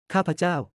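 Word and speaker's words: ข้าพเจ้า: Capo sounds like kaouo with emphasis on the middle syllable.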